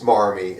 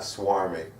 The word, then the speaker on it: smarmy: He looked it up, and apparently, that it is smarmy and not swarmy. Yeah. I've always said, I've been saying swarmy, like for like the past 20 years, and it's actually, I said it wrong, Smarmy. but it actually is smarmy.